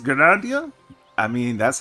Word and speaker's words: Gridania: Gridania is how it's spelled, how you actually say it. I've already said Grandia, because, you know, I can't pronounce shit.